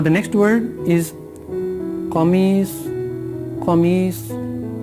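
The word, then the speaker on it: قميص: Qamis. Again, a little bit difficult to pronounce. Qaf and Swad. Starting with Qaf, ending with Swad.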